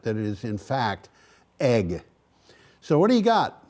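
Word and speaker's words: Eigg: And so this is wind turbines on the island of Egg, which is spelled E-I-G-G.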